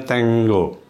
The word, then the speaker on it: tengo: Ini tulisannya tengo kalau kita ya, tapi ini bacanya tengo. Seperti seolah-olah ada double G-nya itu tengo ya, jadi bukan tengo, tengo gitu ya.